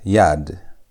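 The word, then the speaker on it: יד: This one is going to be pronounced as yad.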